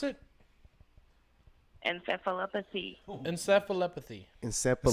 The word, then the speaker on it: encephalopathy: How do you pronounce it? Encephalopathy.